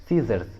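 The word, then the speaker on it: scissors: For example सीजर्स, सीजर्स, देखिए यहाँ पर एस और सी दोनों एक साथ हैं तो सी को प्रोनाउंस नहीं करेंगे, सी साइलेंट रहेगा तो उच्चारण होगा सीजर्स, सीजर्स।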